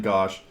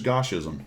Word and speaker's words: Goshism: pronounce his name because I've always called it Gosh. And I looked at it and I went, well, he sent you here. I should probably know exactly how his name is pronounced. It is Goshism, all right?